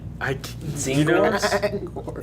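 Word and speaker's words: Tzaangors: Zangors?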